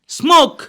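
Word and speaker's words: smoke: فعل بينتهي بحرف الك سموك مش كده سموك يبقى سموك طبعا ممكن الناس تقول لي ايه طب ما سموك يا عمور بتنتهي بحرف الاي الاي هنا مش بتنطق لان بقولش سموكي بقول سموك يبقى اخر صوت نضغطه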